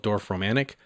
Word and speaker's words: Dorfromantik: I tried another one of the newer-ish games on Steam called Dorf Romantic. It's spelled DORFROMANTIK.